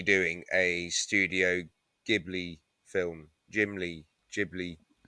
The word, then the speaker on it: Ghibli: Ghibli. It's not Gimli, like you said before.